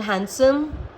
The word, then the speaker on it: handsome: There is no rule for these words, but these are some words in which D is silent. For example, handsome, Wednesday, sandwich, handkerchief.